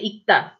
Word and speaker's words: 읽다: 읽다. So when you pronounce this, you just say 읽다, 읽다. You only pronounce the last one.